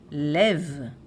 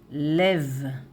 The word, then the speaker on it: לֵב: So, lev, lev, lev, with tseire here. Lev is singular, masculine.